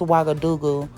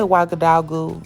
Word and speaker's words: Ouagadougou: wagga dagu burkina faso actually i believe the correct pronunciation is wagga dougal but i'll say waka dogu throughout this video so disregard something reimagined